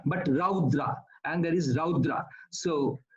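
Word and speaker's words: रौद्र: And similarly, it's not rudra, but raudra.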